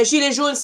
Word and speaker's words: gilets jaunes: Gilets jaunes is in French word. Yeah, yellow vest. Sorry, but the pronunciation is gilets jaunes.